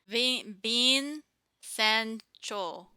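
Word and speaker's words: 빈센조: The Korean way, the Korean way of pronouncing it is Bin Sancho. Bin Yes. Sancho, and you say that really fast. That's how Mm-hmm. phonetically they wrote it in Korean because there's no V equivalent in Okay. Korean. So it becomes like a B sound.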